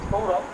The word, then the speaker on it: সৌরভ: তো মানে বাংলা যেটাকে আমি সৌরভ বলছি সেটা তো সংস্কৃতে সৌরভা বলতে হবে, মানে সকে স বলে বলতে হবে স্যার, সৌরভা, মম নাম সৌরভা।